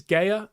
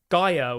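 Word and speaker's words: Guéhi: I keep calling him Gaya, the Crystal Palace centre-back, and it's not pronounced like that whatsoever. It's like Gaia, or I don't know.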